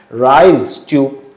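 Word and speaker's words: Ryle's tube: ফলে রাইলস টিউব কথাটা অনেক সময় আমরা উচ্চারণে ভুল করি, রাইলস টিউব আমাদের ধারণা থাকে ভাত ঢোকানো হয়, না, রাইলস টিউব, RYLE', রাইলস টিউব।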